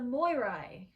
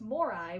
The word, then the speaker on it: Moirai: Another name for the fates of Greek mythology is the Moirai. I don't know if that's how you say it. Well, you spell it M-O-I-R-A-I, so it's Morai with an extra I.